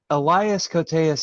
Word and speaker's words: Elias Koteas: It was actually Eli Cotius, but I put Elias Cotius. I fucked up. And Hunter. Yeah, I didn't have it. Elias Koteas is actually correct.